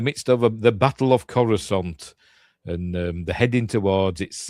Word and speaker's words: Coruscant: It's all kicking off over Coruscant, or Coruscant, as Christopher Lee pronounces it.